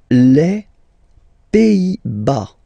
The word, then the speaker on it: Pays-Bas: Les Pays-Bas. Final S here, not pronounced. Same thing here. Pays, and then bas.